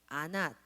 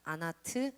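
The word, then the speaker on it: Anat: 와이프가 아낫이라는 와이프가 있었는데, 아낫 또는 그 당시에는요 모음이 없거든요. 그래서 발음들이 여러 개로 이제 변형이 돼요. 아낫, 아나트, 아스낫 뭐 이렇게 읽혀요.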